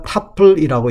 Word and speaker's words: 튜플: 그다음에 이제 각각의 행각의 행을 우리가 타플이라고 이야기를 합니다. 뭐 튜플이라고 써 놓는 교과서도 있긴 하는데 한글로 뭐 좀 더 정확한 발음 타풀이 될 거 같습니다.